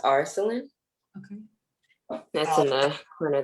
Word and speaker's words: Arsalan: I think it's pronounced Arsalan. Okay. That's in the corner there. Let me step in for that. His name is Arsalan Khaled.